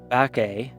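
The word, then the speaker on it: Bacchae: that they are they're it's pronounced back a because they are they are the progeny or creations of the god Bacchus who is the he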